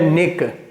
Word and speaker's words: niche: मैं तो इसको निक बोलता हूँ, लेकिन इसे निच भी बोलते हैं लोग, नीच भी बोलते हैं।